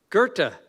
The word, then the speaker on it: Goethe: Goethe.